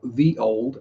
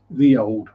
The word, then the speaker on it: ye olde: So them ye olde place names. As the ye olde, or the old, as it's actually pronounced, is the ye was actually originally a thorn, which is pronounced th.